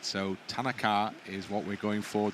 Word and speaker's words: Tanaka: have been told that the pronunciation I think is Tanaka and not uh as we have previously been uh suggesting it's Tanaka right so Tanaka is what we're going